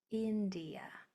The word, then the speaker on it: India: India. That I is sounding like an E because it's toward the end of a multisyllable word and there's a vowel after it.